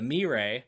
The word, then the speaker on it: Moirai: Anyways, Minos' new religion is the cult of the Moirai. If you want to be pedantic, that is actually pronounced the Mirae, the Fates.